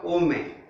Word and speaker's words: ओम: श्वास भर लेना है पहले और फिर ओ, इसका मतलब पूरी श्वास अंदर भर के जब उच्छ्वास करते यानी श्वास छोड़ते रेचक करते हैं, तो वो जो रेचक होता है वो आधा ओ में, ऊ साइलेंट होता है, फिर आधा म में, ऐसा किया जाता है ओम का उच्चारण।